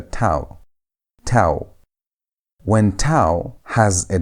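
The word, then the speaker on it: תו: But when tau has no dagesh, the sound changes. Instead of pronouncing it as T, you pronounce it as TH. As if you want to say thin. That TH sound is how you pronounce tau without a dagesh.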